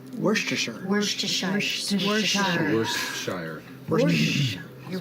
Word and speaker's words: Worcestershire: Worcestershire. Worcesters? Worcestershire. Worcestershire. Worcestershire. Worcestershire. You're right. I mean, it's spelled Very so hard to say.